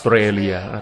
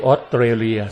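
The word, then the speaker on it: Australia: ศาสตราจารย์ นะ บอก ว่า พูด ชื่อ ประเทศ ออสเตรเลีย ผิด นะ เขา ต้อง เรียก ว่า อ๋อ straya ต้อง ออก เสียง อ๊อด ส เสือ ยาว ๆ นะ ไม่ ใช่ ออสเตรเลีย นะ ท่าน ก็ เป็น ห่วง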